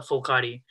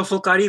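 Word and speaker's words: phulkari: this is called a fulcari so fulcari loosely literally translates to flower work so it's spelled p-h-u-l-k-a-r-i the first part of the word is full meaning flower and the last part is work flower work and it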